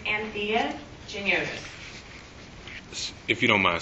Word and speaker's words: Anthea: It's Anthea Giniotis. If you don't mind, spell it no for problem.